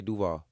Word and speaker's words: Duval: for you you know coming from Deauville am I saying it right now yeah do I say right move on you said you said again do vow you saying Duvall yeah just say do-wah do-wah do-wah all right see we